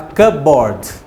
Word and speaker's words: cupboard: é um armário tão cupboard eu não pronuncia o som do p fala kanboard letter se self-starter with